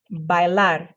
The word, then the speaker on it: bailar: And then when you put the R, don't move your jaw, just flick your tongue once. Hablar, hablar, bailar, bailar.